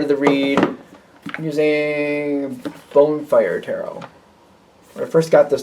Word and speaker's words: Bone Fire Tarot: the read I'm using bone fire Tarot when I first got this deck I said it wrong a lot I kept calling it bonfire Terror it's the bone fire tarot